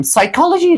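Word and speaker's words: psychology: بسیار پرونسیشن ما خواهد شد سایکالوژی ما میگیم سایکالوژی روانشناسی و بخش دومش که گفتیم قبل از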